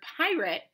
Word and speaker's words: pirate: The letter A in the A-T-E pattern in the word pirate is making a schwa sound. It sounds a little like eh or I. That means that pirate belongs in our schwa column.